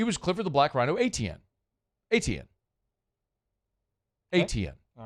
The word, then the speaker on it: Etienne: So, I'm like man it's Etienne. Like how you say it is how you say it.